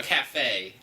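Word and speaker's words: café: don't have a cafeteria we have a cafe and you have to put the accent on the E this surface we're on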